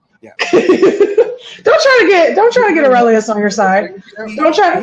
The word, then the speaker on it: Aurelius: We're going to start with Aurelius. Aurelius. His name's Aurelius. Aurelius. Why am I saying it wrong? Whatever you want. Aurelius? His name is Aurelius, like Marcus again.